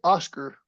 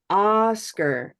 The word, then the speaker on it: Oscar: And the way English behaves, we'll say something like Oscar. Oscar. So that second syllable is very purple and little, right? Oscar. Now, Oscar. that's really different from the way it sounds in Spanish. In Spanish, it doesn't sound like Oscar. It sounds like this.